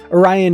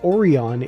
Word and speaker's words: Orion: protest with your government Orion is repeatedly and inexplicably pronounced oron in that episode and Doos finally gives us a Canon explanation that's just how this particular Clan pronounces it I also loved the